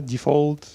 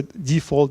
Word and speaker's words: Defold: So Defold, it's like it's folded something and then defolded, something like that.